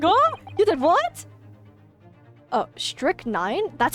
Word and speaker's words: strychnine: Oh, strychnine? That's how you pronounce it?